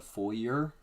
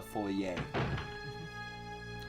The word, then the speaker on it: foyer: people for so long call it a full year even though it's a french word that just does the full yay but french is also